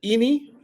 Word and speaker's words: Ini: It is pronounced. Wait. I just said Ini.